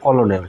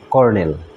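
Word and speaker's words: colonel: যেটা নিয়েছি এখানে দশটি ওয়ার্ড আছে কলোনেল যখন উচ্চারণটা হয় কলোনেল কিন্তু সঠিক উচ্চারণ হবে কর্নেল কর্নেল অর্থ হচ্ছে সেনাপতি বা কর্নেলও বলা হয়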